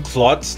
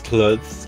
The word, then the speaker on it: clothes: what i mean i i keep saying clots like blood clots but it's not clots it's clothes clothes you know though those